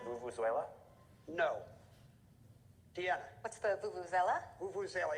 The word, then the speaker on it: vuvuzela: What's the vuvuzela? Vuvuzela. Yeah, Rob, you kind of added a syllable there.